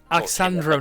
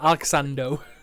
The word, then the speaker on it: Alexandro: Alexandro, not Alexando.